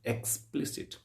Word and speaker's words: explicit: इसको उच्चारण करिएगा आप, एक्सप्लिसिट, राइट। तो इसमें जो स्ट्रेस आपने देखा, एक्सप्ली, दूसरे जो सिलेबल है उस पर इसका स्ट्रेस है।